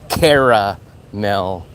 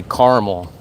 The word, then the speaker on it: caramel: No, I don't say caramel. I say caramel.